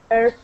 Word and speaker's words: herb: right so good comment the analogy with the we misleads many of us in the pronunciation of this word herb herb do my friend